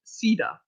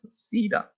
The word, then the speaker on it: Seda: And then Aphrodite corrected my pronunciation, so I'm so sorry, but it's pronounced Seda. All right. Cool. I'll try to remember that. Seda.